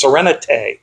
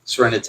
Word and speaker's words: Sereneti: It's Serenite. Serenate. And it's a a French take on serenity.